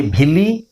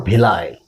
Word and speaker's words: villi: as the Uyuni Billy you say Billy or villi it has two pronunciation Billy or delay both are correct so this is the